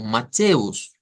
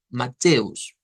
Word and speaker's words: Mateus: primer lugar vemos que la palabra o el nombre de Mateo se escribe bastante parecido al español lo que cambia es que hay una Us al final y por lo tanto el sonido de eso va a ser como mateus mateus entonces ahí no tenemos